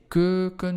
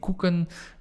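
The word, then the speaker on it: keuken: one camera the curcum remember to pronounce that eu quite sharp you want to say kurkun you don't want to say kuken because then you speak about cookies which you also can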